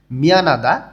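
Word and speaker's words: 미안합니다: মলদা দূরে নুত্তা দেরি মিয়ানাদা দুঃখিত নিউন এর পরে যখন হিউ থাকে তখন হর উচ্চারণটা খুবই সামান্য উচ্চারণ হয় এবং নিউনটা একটু জোরালো উচ্চারণ হয় মিয়ানাদা অর্থাৎ দুঃখিত নিচে আমাদের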